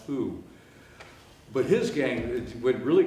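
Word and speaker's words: Houx: The Hooks Gang, H-O-U-X. It's actually French, is pronounced who.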